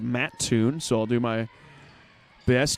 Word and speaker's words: Mattoon: good friends morgan that it is not muttoon it is mattoon so i'll do my